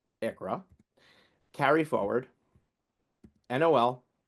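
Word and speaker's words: ICHRA: Um, TCJ A T CJ A Q S H A which is pronounced CUREA, IC which is pronounced ICRA, carry forward, NOL s employer pension plan credit, small employer health insurance credit, home office deduction.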